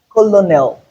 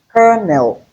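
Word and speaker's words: colonel: Col is not colonal. So we have only two. Only two two syllables not three. It's not colonal. It is kernel.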